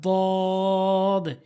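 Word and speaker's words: ض: এরপর হচ্ছে দদ, জিহ্বার গোড়ার কিনারা উপরে মারির সঙ্গে লাগাবেন। দদ গায়রিল মাগদুবি আলাইহিম ওয়ালাদ-দাল্লিন। দদ। বুঝতে পেরেছেন? জিহ্বার গোড়ার কিনারাটি উপরে মারির সঙ্গে লাগাতে হবে। দদ।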